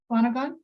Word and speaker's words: Swanagon: Did I pronounce that correctly? Swanagon?